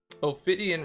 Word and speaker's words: Ophidian: Ophidian rhymes with obsidian.